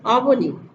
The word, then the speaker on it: অবনী: অবনী মানে পৃথিবী, কিন্তু উচ্চারণে দেখো স্বরে অ, বয়কার, দন্তনয় হর্ষি। আমরা যখন অবনী বলছি ওয়ার্ডে কিন্তু এখানে দেওয়া নেই ওকার বয়ে, কিন্তু দেখো ঠিকই আমরা উচ্চারণের সময় যখন বলছি অবনী তখন বয়কার বো আসছে, অর্থাৎ এটি বিশেষ্য পদ, পৃথিবী, ধরা, জগৎ।